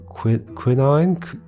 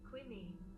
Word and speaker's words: quinine: Quinine. Hold on. Let's check if that's right. Quinine. Yeah, quinine. Although it looks like there's a different... Quinine in the US. Quinine.